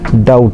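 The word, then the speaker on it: doubt: Consonant পরে বিটি এর উচ্চারণ ট হয়। বি অনুচ্চারিত থাকে। অর্থাৎ বি এর উচ্চারণ করতে হবে না। যেমন ডাউট ডি ও ইউ বিটি বিটি আছে এরপরে উচ্চারণ বিটা হচ্ছে না। শুধু ডাউট বি বাদে উচ্চারণ হচ্ছে ডাউট সেরকমভাবে ডেপ।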